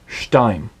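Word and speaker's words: שתיים: That is an accent point. That indicates that that is the syllable that takes the accent. So instead of it being shtaim, it's shtaim.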